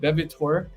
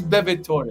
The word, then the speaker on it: Bevitore: I was saying it Bevitor, but it is Bevitore because it's Italian.